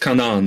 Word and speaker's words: Canaan: So it's pronounced Kanan, by the way, his name.